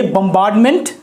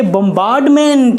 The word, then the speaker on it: bombardment: अब गोलाबारी के लिए बम्बार्डमेंट, और स्पेलिंग क्या होगा जी? तो होगा BOMBARDMENT। हाँ, इसको हम पढ़ेंगे बम्बार्डमेंट, ना कि बम्बार्ड, नहीं, बम्बार्डमेंट।